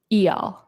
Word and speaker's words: Eyal: How do you say the first name? Eyal. Eyal? Eyal. Like y'all? Like how do y'all? Y'all. Yeah. Like E or E and then like y'all.